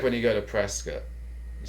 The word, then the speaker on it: Prescott: It's like when you go to Prescott. You say Prescott, right. Arizona, but they correct you right now. It's Prescott.